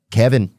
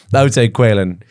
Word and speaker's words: Caoilfhionn: Caoilfhionnn. Kevin. That one is even weird for me. I would say Quaylen. Quaylen.